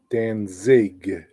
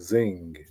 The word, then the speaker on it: Danzig: his first name Glenn Danzig it's zig I don't know why I was putting an n in there like Zing Dan Zing Danzig you know there's a